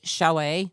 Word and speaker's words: chalet: canopy Chalet button so this one says show a but it's spelled c-h-a-l-e-t I think I'm not sure that's how you pronounce it but let's go with